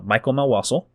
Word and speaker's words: Mikel Melwasul: I go by a writer nickname online, Mikel Melwasul. That's how you say it.